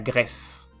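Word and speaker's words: Grèce: griego grek griega grek y el país Grecia sería la gres Y por último tenemos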